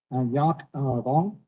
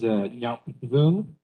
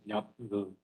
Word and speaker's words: Nyap Vung: My name is Nyap Vung. That is Nyap Vung. You can also call me if you're not able to pronounce Nyap.